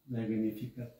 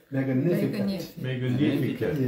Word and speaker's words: Magnificat: Magnificat. 한번 발음해 볼까요? Magnificat. 여기 액센트가 있는데, 근데 또 아마 저기 그 라틴 사람들은 G 발음을 안 하는 모양이에요. 그래서 Magnificat라고도 발음을 해요.